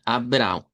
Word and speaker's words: Abraão: El nombre de Abraham que nosotros lo pronunciamos español en portugués sonaría a Abra. Abr con a nasalizada y una w nasalizada. Abraão.